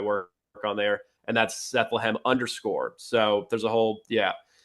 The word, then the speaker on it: Sethlehem: So if you want to find that's where I'm most active is on X, and that's under Sethlehem, which rhymes with Bethlehem.